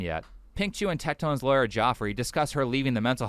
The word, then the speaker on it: Joffrey: It's Jeffrey, by the way. I know you can't see that it's spelled Jeffrey, but it's pronounced Jeffrey. It was very different.